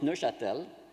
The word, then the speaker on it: Neuchâtel: Actually, it's a French-speaking town, so we pronounce it Neuchâtel, but it's the same thing.